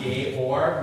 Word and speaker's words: Georg: And it pronounced Georg, which is the German version of the name.